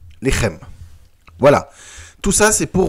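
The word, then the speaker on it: לחם: Par exemple, Lechem. Lechem, en phonétique, je vais l'écrire L-E, H majuscule avec un apostrophe E-M. Lechem.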